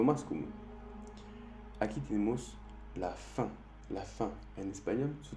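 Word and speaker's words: faim: Aquí tenemos la fin. La fin en español, su traducción es hombre, la hombre. F-A-I-M es la hombre. A-I-M hace el sonido un en francés.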